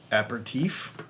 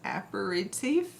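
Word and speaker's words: apéritif: that word happy National aperitif I'm gonna look at this up while you answer that ask that there's another syllable in there apparate safe day Leslie and Dylan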